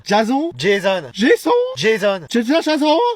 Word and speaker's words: Jason: Ouais, ça se prononce plutôt Jason comme à l'américaine. Jason.